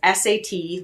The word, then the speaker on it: Sat: It's SAT, like sat, but it's pronounced Sat.